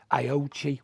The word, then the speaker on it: Aoocci: I don't know how you want to pronounce it. Aoocci, Aoocci, whatever you want to call it.